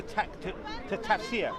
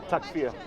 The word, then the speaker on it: Takfir: That is reserved to tafsir. Okay. Have I pronounced it right? What's that? Takfir. Takfir. Okay.